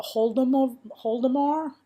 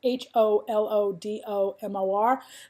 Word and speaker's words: Holodomor: It is, they call it the Holodomor. I can't pronounce it. Holodomor.